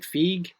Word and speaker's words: Feig: uh how do you say his last name feig is that how you say Kevin F yeah Kevin fig was there um the guy who's playing Black